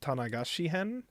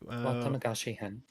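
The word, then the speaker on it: 綿流し編: So, this is continuing Let me make sure I'm saying it right. The the the uh the cotton drifting arc which was what Tanigashi-hen, I think? Watanagashi-hen. Watanagashi-hen.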